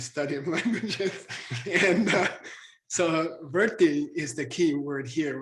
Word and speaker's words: vritti: And anyway, so it's not vritti, it's verti.